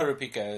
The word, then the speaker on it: Kurapika: Kurapika is how they usually pronounce it.